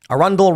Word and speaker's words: Arundel: Arundel rhymes with bundle.